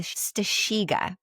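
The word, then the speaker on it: strzyga: What that was was the stasha. Very good. It's spelled not like that cuz guys it's not spelled stasha.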